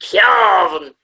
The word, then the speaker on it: Cavan: It's Calvin.